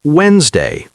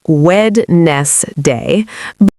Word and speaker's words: Wednesday: Many learners say Wednesday, but the correct pronunciation is closer to Wednesday, where we do not clearly pronounce the D.